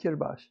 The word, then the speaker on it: Kiribati: They say something like Kirbash.